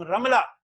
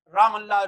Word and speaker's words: رملہ: جس کو ہم رملہ، مٹی جو ہے نا، رمل ریتی کو کہتے ہیں، رام اللہ لوگ غلط تلفظ سے ادا کرتے ہیں، تو یہ وہاں پر